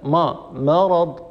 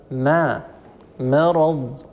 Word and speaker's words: مرض: احكامها ان شاء الله فكلمه مرض لان الراء مفخمه فيخشع على الميم التي قبل ان تفخم تبعا للراء مثلا ما مرض ما ما هذه مفخمه والعرب لا تفعلوا هذا الصواب ما مرض ماء مرض مخمصه ولا تفخم الميم ابدا الميم حرف مستفل مستحقه الترقيق والميم من مخمصه ومن مرض